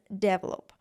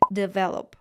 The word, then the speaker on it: develop: pronounced in the word develop as develop it is not a correct pronunciation it should be developed the two pronunciations are